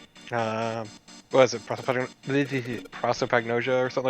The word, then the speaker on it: prosopagnosia: Also, we came to the conclusion that Ace has propagnasia. What is it? Prosopagnosia or something like that?